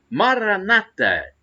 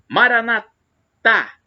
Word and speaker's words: Maranata: E agora eu clamo Maranata, com a tônica na penúltima sílaba, como dizem os evangélicos ou protestantes. Maranatá, como dizem os católicos, como nós dizemos, com a tônica na última sílaba.